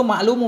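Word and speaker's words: المعلوم: Itu ma'lumu bacanya. Kelihatannya seolah-olah haddil maklumi kan? Padahal ma'lumu. Wadakala fil haddil ma'lumu bid darurah.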